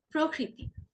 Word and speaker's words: প্রকৃতি: তো আপনি কি করবেন? প্রকৃতি, প্রকৃতি, প্রকৃতি হবে না, কি হবে? প্রকৃতি। খুবই সূক্ষ্ম পার্থক্য, হ্যাঁ, এটা খুবই সূক্ষ্ম পার্থক্য।